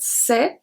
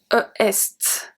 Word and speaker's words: c'est: For example, when we look at c'est, I don't say est. I don't say that est is a part of a specific sound.